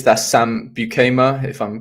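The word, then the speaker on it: Beukema: I think it's that Sam Bukema, if I'm pronouncing it right. Bukema, yes.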